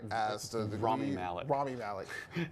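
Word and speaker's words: Rami Malek: like uh uh uh Ramy mik I hope I pronounce his name right as Ramy Mal Ramy Malik it's hard Ramy Malik I forgot it sounds like a ramen noodle flavor I'll have the Ramy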